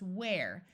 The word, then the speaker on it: ware: Unless there's an E, in which case it's pronounced ware. This word ware refers to something that is available for sale.